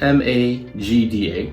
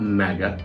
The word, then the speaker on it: Magda: my Magda Vlog channel it's spelled m-a-g-d-a called Magda and it's not Maga because I don't want